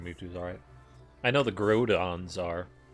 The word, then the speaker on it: Groudon: No, it's Groudon, like ground.